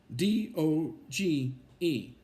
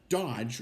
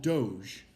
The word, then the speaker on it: DOGE: the department head of d o g e right but they don't call it Dodge or whatever it's called Doge right the the E is is silent so so Doge uh that's backwards for